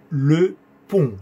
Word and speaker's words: pont: Le pont. Sonido O nasal. Un.